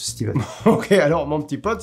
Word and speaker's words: Stephen: Non, c'est Stephen avec PH, comme phallus, mais ça se prononce Stephen.